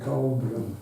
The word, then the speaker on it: Coelbren: which is related to numerology, which is the Colbran alphabet. It's spelled Coelbren.